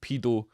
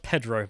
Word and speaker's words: Pedro: from pia pet pee pedo sanchez well he's left wing so he's definitely a pedo a minor attracted person believe it's pronounced pedro but yeah yeah i